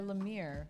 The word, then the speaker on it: Lemire: Gideon Falls is another comic book series by Lemire. Oh, really? Is that how you say his name? Oh, yeah, Jeff Lemire.